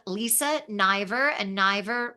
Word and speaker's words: Niver: name Lisa ner and ner rhymes with diver n i v r on all platforms on